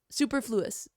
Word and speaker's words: superfluous: I thought she said like superfluous. I'm like that's not how that word's pronounced. It's superfluous. Superfluous.